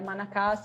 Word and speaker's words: Manacá: não tivesse nenhuma diferença a pronúncia exatamente a mesma você fala Manacá em português ela na cama na